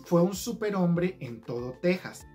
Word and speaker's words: Texas: enteras si se fijan aunque texas está escrito con x en español se lee tejas igual que la palabra méxico que aunque se escriben con x se leen como si tuvieran una jota luego seguimos con el